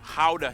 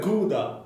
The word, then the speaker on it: Gouda: joy of the nation how the cheese yep that's how you pronounce oh how the wow i always said gouda i always said gouda